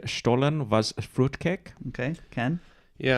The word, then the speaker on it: Stollen: It might be pronounced stolen. I don't know if that helps you at all. It's Stollen.